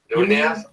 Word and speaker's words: Nunes: Is it still Amanda Nunes? Nunez? Nunez? That's how we're pronounced.